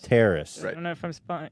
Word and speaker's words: Terrace: it with Justin roiland Alex Hirsch and Dana Terrace Terrace saying it right that's right yeah I think